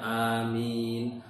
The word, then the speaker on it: Amin: Tapi aminnya yang betul bacanya amin. A-nya panjang, min-nya juga panjang gitu loh.